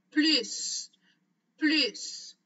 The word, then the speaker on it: plus: Le mot plus a trois prononciations. Alors, une de ces prononciations, c'est en prononçant la lettre S à la fin. Plus, plus. Répétez après moi.